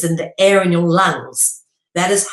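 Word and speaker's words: 龙: And you even pronounce it the same way as this, lung, all right, with a U sound, lung, not lang or long with a O. You pronounce it the same freaking way, which is lung, all right, as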